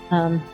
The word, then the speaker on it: Autolycus: not sure how to say this name, but Autolycus. It's Autolycus.